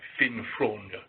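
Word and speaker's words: Finn Frogne: My Danish students tell me you have to swallow it at the back of your throat. Finfronde. Well, that's how you pronounce it. Please. The G is very subtle.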